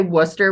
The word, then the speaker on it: Wooster: We say Wooster. We say where the cows go muh instead of moo.